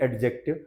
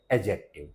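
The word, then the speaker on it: adjective: इसको आपने विशेषण को सब लोग बोलते हैं एडजेक्टिव लेकिन इसका सही प्रोनंसिएशन है एडजेक्टिव क्या है एडजेक्टिव अब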